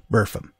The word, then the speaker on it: Burpham: course of the centuries the pronunciation wore down to today buram the fort is a